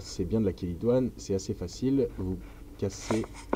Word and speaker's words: chélidoine: La chélidoine, alors ça s'écrit chélidoine, mais ça se prononce chélidoine, ou herbe à verrues, précisément parce que elle aide à supprimer les verrues grâce à sa sève.